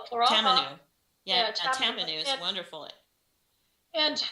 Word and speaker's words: tamanu: I got some cranberry oil, some tomato or tamano. Is that how you say it? We call it floral. Tamanu.